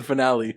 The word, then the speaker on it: finale: What's the difference? One's proper, one's not. Okay. One's the right way to say it. One has an E at the end of it.